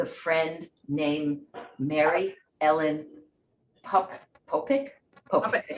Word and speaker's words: Popyk: For today, I want to talk about this very special occasion with a friend named Mary Ellen Popyk. I said it right. Popek.